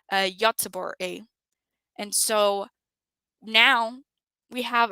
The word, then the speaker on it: Göteborg: It actually tells us the town, which is in English, it's pronounced Gothenburg, but in Swedish, it's pronounced, and I hope I'm saying correctly, Göteborg.